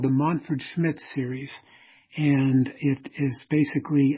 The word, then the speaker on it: Manfred Schmidt: It's called the Montford Schmidt series, and it is basically... That's how you pronounce it. Yeah, Montford Schmidt. I was thinking Manford.